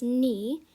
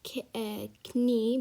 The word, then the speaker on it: knee: word we have here is knee and you pronounce it as nee and not k knee because the k is silent so you pronounce it